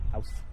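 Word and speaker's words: aus: To say it like u. Um it's technically supposed to be German. House.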